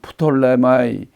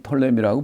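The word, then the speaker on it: Ptolemy: 네 번째 장군인 톨레미가 이건 프톨레마이 또는 톨레미, 프톨레미 발음이 여러 가지가 있어요. 그런데 우리는 톨레미라고 보통 지칭합니다.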